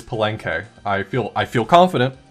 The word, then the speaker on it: Palenque: of research to to figure out how to pronounce this and it is palenque i feel i feel